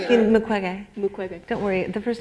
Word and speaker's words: Mukwege: Mukwege? Mukwege. Yeah, I'm saying his name incorrectly. Am I saying it? Mukwege.